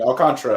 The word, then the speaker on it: Alcantara: right Alcantara excuse me I'll Contra I apologize I'll Contra like the Iran Contra but I'll Contra that's what I wanted